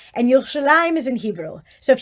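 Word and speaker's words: ירושלים: yes so um i remember that you've pronounced yerushalayim and jerusalem which is it so jerusalem is how they say in english that's kind of like the english name and yoshilam is in hebrew so if you wrote it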